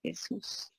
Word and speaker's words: Jesús: De Jesús. Con acento en la U.